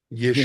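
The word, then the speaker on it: ישועה: Jehová Señor, potente Yeshua mío, En tú lugar de pusiste Salvador se pronuncia Yeshua, Yeshua.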